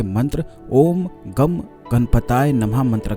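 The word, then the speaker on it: गं: गम जो बीज मंत्र होता है, यह भगवान श्री गणेश का बीज मंत्र होता है। काफी लोग इसे गण बोलते हैं, काफी लोग गम बोलते हैं, लेकिन इसका सही उच्चारण गम होता है।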